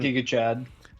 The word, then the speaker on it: Giga: fingers or something, and after his UD against Giga Chikadze? Giga. God, man. Giga Chad. Giga Chad actually is the correct pronunciation.